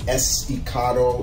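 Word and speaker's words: Estacado: of people that were saying his name wrong but it is esticado it is a it's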